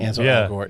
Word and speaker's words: Ansel Elgort: Ansel Elgort.